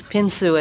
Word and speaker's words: Pyon Su: would start by saying there have been three different pronunciations of his name over time and so i with your permission i'm going to use pinsu as his name today first of all i